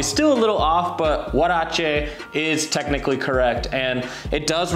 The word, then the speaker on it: huarache: into our wardrobe now anyway first let's talk pronounciation it is what a Shea sandal and it's not her rakia sandal that's how I think I originally pronounced